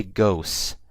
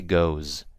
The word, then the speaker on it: goes: you guys see um I'm pronouncing it now with an S but with a Z so I didn't say ghosts I say goes I don't say thus I say does okay makes a world